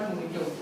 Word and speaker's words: mojito: So this is the reason your mojito, in the mojito J is called as H. Okay, it's called mojito.